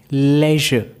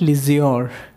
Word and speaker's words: leisure: Say with me, leisure. It's not leisure, it's leisure. So do you have leisure time like that only?